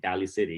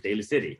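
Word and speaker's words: Daly City: to pronounce the city they call it valley city you know but it's daily city you know funny that's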